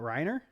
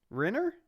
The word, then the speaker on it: Renner: Is it not Reiner? Shut the fuck up. You know it. Renner?